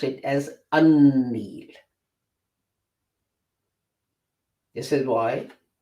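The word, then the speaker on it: النيل: Now in Arabic, when you combine al with Nil, you will not pronounce it as al-Nil. You will pronounce it as un-Nil.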